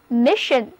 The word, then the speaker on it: mission: 单词 mission mission 字母组合 sion 读作 shin。 Read after me，这是 mission。